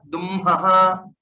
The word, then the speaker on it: दुह्मः: these three letters, then the anunasika is pronounced first and then the hakara, and hence this will be domhi, duhvaha, and then dumhaha.